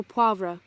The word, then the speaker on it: poivre: Steak au poivre. Poivre. Wasn't sure if the V was silent.